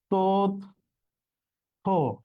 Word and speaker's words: তথ্য: দেখো তাহলে এটার উচ্চারণ কি হবে, হয় সাথে জফলা আছে, তার মানে থ মহাপ্রাণ ধ্বনি দ্বিত্ব হবে না, তার আগের বর্ণটা দ্বিত্ব হবে, ত দুইটা হবে, তাহলে তথ্য এর উচ্চারণ হচ্ছে তথ্য।